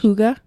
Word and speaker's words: hygge: isn't a direct English translation from the Danish hooga hooga I said because I'm reading the word yeah